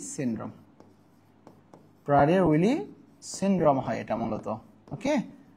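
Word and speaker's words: Prader-Willi: প্রাইলি syndrome এটা প্রাধার রয়েছে এটা হচ্ছে হয় উচ্চারণ প্রাডের উইলি সিনড্রোম প্রাডের উইলি সিনড্রোম হয় এটা মূলত ওকে আমি ব্যাপারটাকে বুঝাইতে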